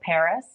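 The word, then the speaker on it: PVRIS: the most is there's a band called Paris except it's spelled PV r i s okay um I their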